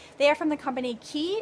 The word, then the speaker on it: Quay: are from the company key it's spelled like way though qu a why these are my favorite